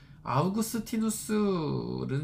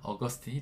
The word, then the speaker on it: 아우구스티누스: 아우구스티누스는 이제 로마자 음역이고요. 이거를 영어로 읽으면 어거스틴이 되는 거예요. 그래서 저는 이제 어거스틴이라고 하는 것은 어떤 미국 신학의 영향 아래에서 부르는 이름이기 때문에 원래 음역대로 아우구스티누스라고 읽는 것을 더 선호합니다.